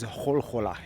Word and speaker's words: Gula: So, the name of this city is Hola. It's spelled Gula, but it's from Persian.